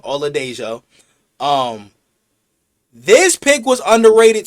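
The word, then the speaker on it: Oladejo: Um Olo Olo Dejo, that's how you pronounce his name. Ola Dejo.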